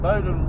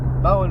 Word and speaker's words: Boyne: So anyway, that was Miriam Vale, and we're back on our hunt again to Bowden River. Boyne River. Boyne River, there you go. We're doing really well with this pronunciation of crap, I can tell you.